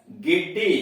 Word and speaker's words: giddy: इसमें देख रहे हैं कि इनके बाद यानी जी के बाद ई भी आ रहा है, आई भी आ रहा है, फिर भी उच्चारण इसका गो हो रहा है। Gift, GIFT, gift.